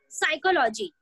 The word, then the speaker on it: psychology: if you will say psychology psychology is the term it is the word which starts with P but your P is silent same as in I